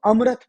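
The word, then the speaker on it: AMRITH: जो है एक्चुअल में जब आप साउथ में प्रोनाउंस करते हो तो इसको अमृत पढ़ते हो ए एम आर आई टीटीएच और इसका फुल फॉर्म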